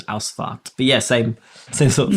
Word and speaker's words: Ausfahrt: Yeah, in German it's got an F-A-H-R-T, I think, and it's aus, like aus, out is A-U-S, I think. So it's Ausfahrt.